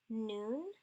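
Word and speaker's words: nun: Noon is the N sound like noun.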